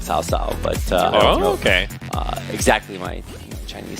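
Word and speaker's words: 曹操: And then the Lubu by name in AOV is actually called Coco or Cow Cow. Cow Cow, yeah. I think it's actually pronounced with an S like Sao Sao, but okay.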